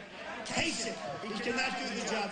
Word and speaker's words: Kasich: In fact, most people don't even know how to pronounce his name. Kasich. Pretend it's a K. Kasich.